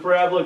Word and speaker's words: parabola: If you want to pair in your mind U-shaped goes with parabola, go for it, but the mathematical term is say what, Jordan?